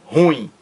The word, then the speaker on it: ruim: pronúncia da palavra ruim ele pronunciou a palavra ruim ruim ruim como se fosse monossílaba não ela é dissílaba e o acento mais forte recai na última sílaba ruim ruim Olha aí